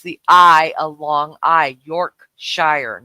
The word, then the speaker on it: Yorkshire: e which makes the I a long I Yorkshire not York sure you say War ches Shire it's wor to